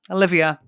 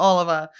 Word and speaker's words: Olivia: Olivia, her name's Olivia. It's not Oliver.